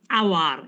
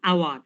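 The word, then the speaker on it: hour: যেমন আওয়ার, এইচ উচ্চারণ কিন্তু হাওয়ার হয় না, আওয়ার।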